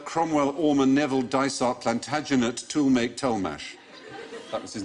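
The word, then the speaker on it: Tollemache: barreled same name but each half was pronounced differently oh my so it's pronounced tool make Tash the to make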